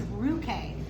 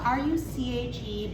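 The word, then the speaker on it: Ruchè: This is Ruche. It's spelled R-U-C-H-E, but just remember that C-H makes a K sound in Italian.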